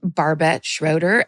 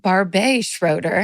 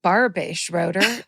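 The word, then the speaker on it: Barbet Schroeder: I incorrectly pronounced their name, Barbett Schroeder, and declared them to be a woman and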